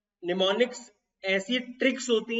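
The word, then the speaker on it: mnemonics: Techniques को technical भाषा में निमोनिक्स बोला जाता है। मिनीमोनिक्स कुछ नहीं होता, निमोनिक्स। ठीक है, एम क्या, कोई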